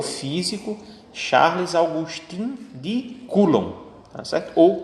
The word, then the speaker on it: Coulomb: É o físico Charles Augustin de Coulomb, tá certo? Ou Coulomb, que é como se escreve.